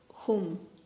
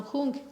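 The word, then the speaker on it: hūṃ: And then in the heart chakra, we have the blue syllable, hum. Hum, say the Tibetans, hung. No, hung, say the Tibetans, hum, say in is said in Sanskrit, whatever you prefer to say.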